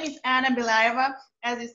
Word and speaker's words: Anna Belyaeva: My name is Anna Belyaeva. As you said, you pronounced really well.